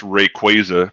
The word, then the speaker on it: Rayquaza: It's pronounced Rayquaza. Pikachu poncho Rayquaza.